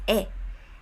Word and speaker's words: 의: So in that case we pronounce it as 에.